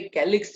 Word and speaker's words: calyx: तो यहाँ पे कैलिक्स जब हम बोलते हैं, at that time pronunciation is K.